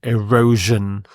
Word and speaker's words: erosion: word erosion erosion Z this SI here makes the J sound erosion erosion this is when